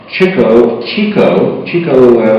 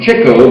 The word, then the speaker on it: Chico: You remember, we often pronounce Chico Marx, but he was correctly named Chico because he was into chicks. That was his thing.